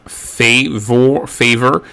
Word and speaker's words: favor: The A is pronounced more like an A rather than an A, or rather than A as it is in English. So instead of favor, we have favor.